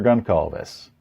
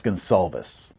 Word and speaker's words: Goncalves: Goncalves. Excuse me, that's Gonsalves. What? It's pronounced Gonsalves.